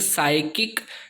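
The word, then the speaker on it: psychic: शुरू में अगर P और S आता है तो P नहीं पढ़ सकते। आप कोशिश कर लीजिए, इसको क्या पढ़ोगे आप? ओके, पढ़ ही नहीं पाओगे। सो ये S से पढ़ा जाएगा ये स्पेलिंग, साइकिक जिसका मीनिंग है मानसिक।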